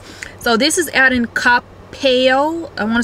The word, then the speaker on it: Coppell: So this is out in Coppell.